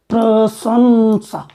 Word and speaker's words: प्रशंसा: तो न का उच्चारण यहाँ किया जाएगा संसा, प्रशंसा।